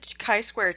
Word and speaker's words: chi-square: have a little bit of affinity for the chi-square test and yes that is how you pronounce it it's based on the Greek letter